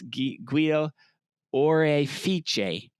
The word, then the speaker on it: Guido Orefice: His name is Guido, which is such a stereotype of an Italian name, but I had to look up how to say the last name in Italian correctly. It's Guido Orefice.